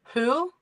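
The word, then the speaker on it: הוא: And likewise uh when the vow has a dot in inside it then it produces the oo sound. Okay. Yeah. You don't pronounce the at all. It's oo.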